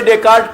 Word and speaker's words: Descartes: वो स्पेलिंग वह की डेकार्टीज जैसे आवे, पर वह को उच्चारण डेकार्ट की हो जाए, DESCARTES, डेकार्ट।